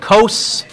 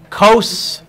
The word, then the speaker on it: cos: you could remember it my math teacher in high school always said cos cos cos he said rhymes with nose and he would say